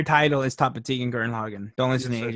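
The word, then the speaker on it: Gurren Lagann: g-u-r-r-e-n-l-a-g-a-n-n the entire title is top of tegan guern logan don't listen to the aj he's full of you just pronounced it perfectly chocolatity and guern logan yeah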